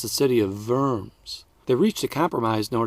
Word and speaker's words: Worms: the German city of Worms. Whoops, I forgot to say in German, where a W is pronounced like a V. So, it's the city of Verms.